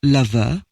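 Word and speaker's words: lufu: Although it is spelled L-U-F-U, lover sounds like our modern pronunciation, only with an extra syllable.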